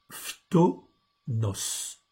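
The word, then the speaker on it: φθόνος: Donc, le mot, c'est le mot tomos, je vous l'agrandis. Donc c'est un mot grec. Ok, donc on prononce phtonos.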